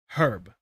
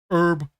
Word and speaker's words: herb: makes sense the way the Brits say it because they say herb, you know? They say they pronounce the H. And the Americans are like herb, which is also like short for Herberts. So, it's it's a little all over the place.